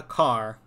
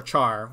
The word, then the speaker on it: char: first variable must be a car or char however you want to pronounce it and then the second